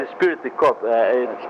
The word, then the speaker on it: esprit de corps: No, I mean esprit de corps. Esprit de corps is how you say it.